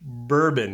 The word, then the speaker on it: BRBN: But the BLK stands for black, and the BRBN, you know, you kind of say it like bourbon if you're pronouncing BRBN.